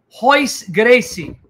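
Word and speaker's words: Royce Gracie: pronounced h so like hois gracie but he spells it with an r royce so the r is pronounced as an h gracie you know who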